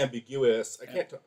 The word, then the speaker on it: ambiguous: can't talk right now ambiguous why can't I say that word ambiguous ambiguous oh my god um you're putting the emphasis on the wrong syllable right I'm drunk I'm